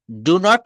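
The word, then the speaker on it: don't: হ্যাঁ, যেমন ডু নট K contraction ফর্মে বলা হয় ডোন্ট, ডন্ট, ডন্ট। হ্যাঁ, উচ্চারণটাও খেয়াল করতে হবে, ডন্ট।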